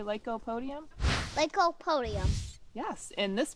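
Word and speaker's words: Lycopodium: yes good so there's a word and it's pronounced Leo Podium can you say Lop Podium leop Podium yes and this plant that we're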